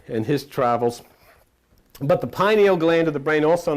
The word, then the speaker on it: pineal: But the pineal gland of the brain, also known as pineal gland of the brain, it's spelled P-I-N-E-A-L, also pronounced by many as P-E-N-I-E-L, pineal gland of the brain.